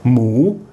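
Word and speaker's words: หมู: So it makes the initial consonant high class, but it's actually pronounced with an M sound, and it has a rising tone. So it's mu. If I want to continue voicing that word, I can. Moo.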